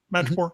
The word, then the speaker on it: Madripoor: Well, they begin as they're almost in Madripoor. Is that how you pronounce it? Yes. Madripoor.